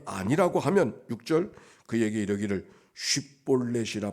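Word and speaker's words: 쉽볼렛: 네가 에브라임 사람이냐 하여 그가 만일 에브라임 사람이 아니라고 하면 6절 그에게 이르기를 쉿볼렛이라 발음하게 하여 에브라임 사람이 그렇게 바로 쉿볼렛이라고 발음하지 못하고 십볼렛이라고 발음하면 이거는 길르앗 사람이 아니라 에브라임 사람이 틀림없으니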